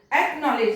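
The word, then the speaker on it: acknowledge: एक्नॉलेज, देखो इसमें कितने सारे वर्ड साइलेंट है। एक्नॉलेज, सी साइलेंट, फिर डब्ल्यू साइलेंट, फिर डी साइलेंट।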